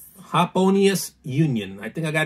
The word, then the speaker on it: Hoponius: Oh, it actually does tell you how to say it. Hop-O-Ni-Us. Happonius Union.